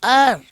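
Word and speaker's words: heir: एज अ है आयर ध्यान दें लिखा जाता है पढ़ा जाता है आयर मतलब वंशज अपने वंश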